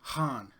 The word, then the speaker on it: Khan: say his name that it's not Khan it's Han he's like Han is Han Han so I was doing